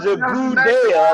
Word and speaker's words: Goodell: I mean, I think, like I said, it was a good thing that Goodell came out and said what he said.